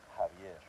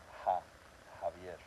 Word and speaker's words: Javier: The next letter would be the J, which is like a H sound. Javier. So Javier.